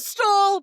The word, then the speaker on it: stole: It's a stole, but it's spelled STOLE. Oh, okay. Oh, like a mink stole.